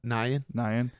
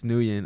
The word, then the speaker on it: Nguyen: Nyan. I always think it's Nguyen, That's what I was and he gonna say. shits on me for it. It's Nyan.